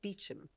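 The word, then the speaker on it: Beauchamp: oh there he is oh that's my family name although we pronounce it beum yes English bastardization of it my from perhaps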